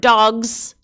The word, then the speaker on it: dogs: But if you have the word dogs, the end of the word dogs, the S sounds like a Z.